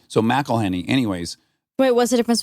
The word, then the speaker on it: McElhenney: It's pronounced McElhenney, not McElhenney. It's a tricky one, but for future reference, when dealing with a Scottish or Irish person, MC followed by a vowel is Mac.